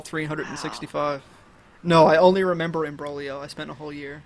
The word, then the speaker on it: imbroglio: An imbroglio? Imbroglio, yeah. Big word. Yeah, yeah, that's I think it's Italian. There's a silent G in there.